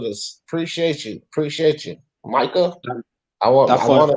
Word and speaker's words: Micah: I want to call you Micah. Appreciate it. So all right, Micah. Micah, don't spam, because I'll have to boot you. I think it's pronounced Mika. Mika.